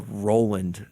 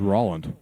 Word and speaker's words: Roland: can ConEd on that this is a a Roland thank you okay this isn't this isn't some I thought it was Rolland uh ra come on